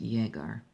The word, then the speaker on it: Jäger: Jäger is German, means hunted, huntsman. Here we go. Jäger, it's pronounced Jäger.